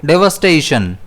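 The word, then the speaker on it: devastation: इसे हम प्रोनाउंस करेंगे डेवस्टेशन जिसमें स्ट्रेस जो है वो एस पर रहेगा।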